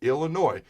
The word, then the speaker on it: Illinois: When asked about the number 2 running back on the depth chart behind Anthony Grant for this Illinois game where the S is silent, he talked about Jacques